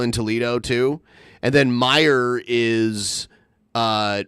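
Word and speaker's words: Meijer: guy who founded Meyer his name was Frederick Meyer but it's spelled m-e-i-j-e-r and he has a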